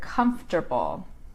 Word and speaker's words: comfortable: So it's 3 syllables. Comfortable. So it's ter. Comfortable. So it really doesn't, it's really not written the way it sounds. We would call it a sight word because the sound doesn't correspond to the letters in the word.